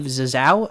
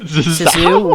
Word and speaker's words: Zissou: Yeah, if you don't want to be spoiled for The Life Aquatic with Steve Zissou, is that how you pronounce it? Zissou, whatever.